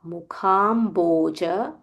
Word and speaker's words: मुखाम्भोज: Idam, idam te, mukha, mukhamboja, mukhamboja. Kha mahaprana, bha mahaprana, mukhamboja, matyanta, matyanta, नीलैर् नीलैर् नी दीर्घ नीलैर् मुखाम्भोज मत्यन्त नीलैर् इदं ते मुखाम्भोज मत्यन्त नीलैर् वृतं वृतं कुन्तलैः kuntalaihi.